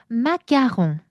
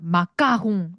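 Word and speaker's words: marron: 농 그리고 조심스 가장 사랑하는 디저트 마롱. 자, 이때 여러분 이거 왜 맞아롱이라고 할까요? 어, 선생님 아는 아까하면서요. 마가홍 이렇게 해야 되는 거 아닌가요?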